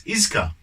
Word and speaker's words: Iizuka: I always pronounce it Izuka. I don't know why that is. It's Iizuka.